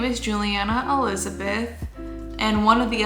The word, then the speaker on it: Juliana: But my name is spelt like Juliana, so a lot of people always pronounce it like that, but it's Juliana.